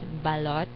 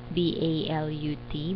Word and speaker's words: balot: you pronounce it so it's pronounced as balot balot because the spelling is b a l o t not b a l u t But some people pronounce